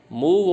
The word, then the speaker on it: move: जैसे मूड और हुड, अब देखने में तो सेम लग रहे हैं मूड और हुड, स्पेलिंग दोनों की एक MOOD HOOD, लेकिन फ़र्क है ना, मूड में बड़ा U है और हुड में छोटा U है, तो ये मैच कम हो रही है। मूव और डव, ये तो मूव है, स्पेलिंग वही है MOVE और DOVE है, लेकिन उच्चारण इनका अलग है।